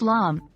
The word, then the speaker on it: lame: A bread lame, pronounced lame, is a simple yet essential tool in the world of baking, especially when it comes to bread.